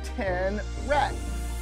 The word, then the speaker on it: tenrec: He's called a tenrec. T-E-N-R-E-C is how you spell that.